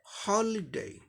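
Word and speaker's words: holiday: तो इसका अब ये 3 सिलेबल्स का है और इसीलिए फर्स्ट सिलेबल पे स्ट्रेस मार्क दिखाया गया है, यानी फर्स्ट सिलेबल को जोर देते हुए बोलना है। तो इसका कैसे होगा उच्चारण? हॉलीडे, हॉलीडे, हॉलीडे, हॉलीडे, हॉलीडे।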